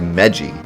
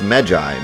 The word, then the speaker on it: Magi: correctly shut up don't tell me it's like meh gee that sounds like a type of cheese it's Magi Magi sounds cool makes you